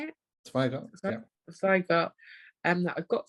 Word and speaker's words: Zweigart: Zweigart.